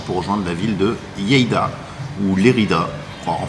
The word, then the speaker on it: Lleida: Et voilà, il est 10h30, on est bien arrivé à la carrosserie ici, près de Lleida. C'est comme ça que ça se prononce, hein? Ouais. Lleida.